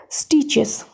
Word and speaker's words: stitches: Stitches. S-T-I-S-T, chess, T-C-H-E-S, chess, here T is silent, second T is silent, okay, stitches, we all